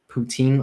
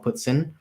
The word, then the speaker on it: poutine: Canada's big on something called poutine or poutine, depending on where you're from, how you pronounce it.